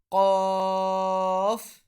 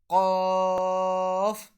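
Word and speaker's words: ق: So Qaf is pronounced when the end of our tongue, which is close to our throat, touches the end of our backside of our palate. So Qaf will be pronounced.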